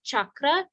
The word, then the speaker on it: chakra: good question with chakra traditionally it is CA because that's a CH sound but oftentimes in our English we will write CH just so people will know people who wouldn't know will know it's the cha sound so both are right